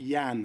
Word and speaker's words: Jan: and Jay Holmes is I think Yan homes I think we've been pronouncing it Jan but it's Yan homes cheers and he was